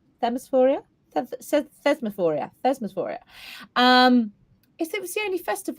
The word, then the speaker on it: Thesmophoria: most about um the oh let's get the pronunciation here right phosphoria phosphoria thesmophoria thesmophoria um is it was the only Festival